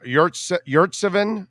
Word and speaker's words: Yurtseven: Yeah, Yurtseven is how it is. Yurtseven, that's how it's pronounced.